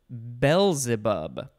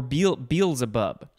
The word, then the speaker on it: Beelzebub: it does look like one of the correct pronunciations is Beelzebub, or Beelzebub, which makes more sense.